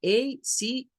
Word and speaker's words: ache: Remember for the pronunciation about this, for many islands in English, we have this ending, A-C-H-E. And we're going to say ache, ache. Headache, backache, stomachache, cake, ache is the pronunciation for this.